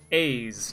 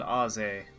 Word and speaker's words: Ozzy: Ozzy is apparently Slavic and his name is pronounced Aze, not Ozzy.